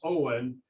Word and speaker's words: Hohen: It's a German name. It's the English pronunciation. In German, it would probably be Fern, or I don't speak German, so there's no umlaut. So anyway, he knew him. He called himself Hohen, and phonetically that was Owen, and that was how